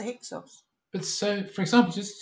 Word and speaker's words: Hyksos: back at Egypt's history they pronounced heka hassut as hicksos with the Greek ending so we now know them as the hixels but so for example